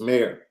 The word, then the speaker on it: Mayer: mayer yeah remember that the correct pronunciation is mayor like mayoral candidate not mayor does his